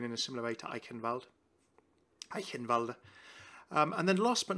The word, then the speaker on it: Eichenwalde: Eichenwalde. It's that particular CH sound.